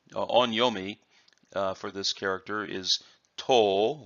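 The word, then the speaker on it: 刀: for this character is toll with a long Oh sound and that as used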